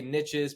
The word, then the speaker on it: niches: sake of the quote we'll say niches because the riches are in the niches baby it rhymes with riches okay the riches are